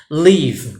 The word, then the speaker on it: live: Live. Quando eu digo live, e o a letra E no final não é pronunciada, viu?